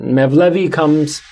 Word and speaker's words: Mevlevi: Mevlevi it's a Turkish pronunciation of the word Molavi, which comes from Maulana.